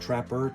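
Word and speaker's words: Trappeur: I think it's just pronounced Trapper, T-R-A-P-P-E-U-R.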